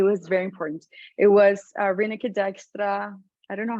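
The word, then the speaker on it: Rineke Dijkstra: It was Reneke Dijkstra. I don't know how to call it. Like, I don't even know how to pronounce correctly her name.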